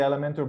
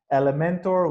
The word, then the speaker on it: Elementor: It wasn't available, so again, it's Elementor without the E between the M and the N.